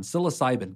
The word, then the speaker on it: psilocybin: So there's been a lot of talk lately about how do you use magic mushrooms, or I believe it's pronounced psilocybin? That one, psilocybin.